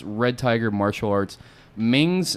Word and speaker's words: Mengs: Red Tiger Martial Arts Ming's, am I pronouncing that right? Yes, exactly. Ming's, MENGS-SWC, to find him on Facebook if you want to follow him.